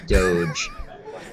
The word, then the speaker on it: Doge: They buy it because of the funny looking dog and the fact that it's pronounced Doge and it's kind of dog, but it's not.